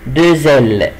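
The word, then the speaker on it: deux ailes: لا هنا الدو يا جماعه اخرها اكس، والاكس جاي بعديها ان فويل، عشان كده سو برونونس زد، عشان كده بنطقها زد، عشان كده بقول ايه دوزل، دوزل جناحين.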